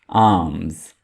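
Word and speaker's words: alms: आर्म्स। यहाँ पे एल को हाईलाइट किया गया है तो एल यहाँ पे आपने नहीं पढ़ना है, एल को साइलेंट रखेंगे।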